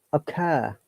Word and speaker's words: occur: the correct sound is occur. Occur. This O is a short sound, and the R is silent in British English because there is a vowel sound before it. We only pronounce R if there is a vowel sound after the R.